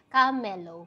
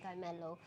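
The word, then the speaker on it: Kamelo: personality ko so ako preferred ko siya i um i-pronounce as camelo parang cam plus melow camelo Pero okay lang din naman yung iba nagsasabing Carmelo Carmelo pero for me I like to pronounce it as camelo kasi gusto ko rin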